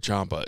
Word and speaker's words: Ciampa: I said Ciampa.